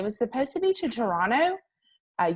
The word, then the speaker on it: Toronto: supposed to be to toronto uh you don't pronounce the t at the end um but then we